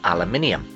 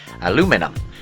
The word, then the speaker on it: aluminium: To do this, he used aluminium. Or as Americans say, aluminum.